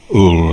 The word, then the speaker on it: Ul: Pronounce O-O-L. Ul, like I say, Marai.